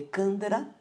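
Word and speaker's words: chandra: essa respiração a palavra se escreve com ch mas se le candra ou uma respiração lunar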